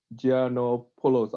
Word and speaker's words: Giannopoulos: Next one is Aristidis Giannopoulos. I hope I pronounced your last name correctly.